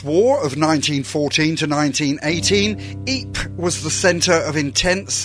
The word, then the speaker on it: Ypres: fire during the war because the British troops had trouble pronouncing its name they nicknamed the city wipers of the battles the